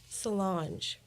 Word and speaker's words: Solange: How do you pronounce Beyonce's sister's name? Solange. There you go.